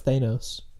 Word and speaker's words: Thanos: I pronounce Thanos.